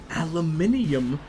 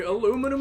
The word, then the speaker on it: aluminium: Remember, your own people don't consider you British, but American, you need to say aluminium properly. I do say it properly. Aluminum sounds fucking disgusting.